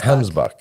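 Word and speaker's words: gemsbok: It's supposed to be with a G. Okay. Gemsbuck. All right. Gemsbuck. But I've heard Some it. people say Hemsbuck. Hemsbuck.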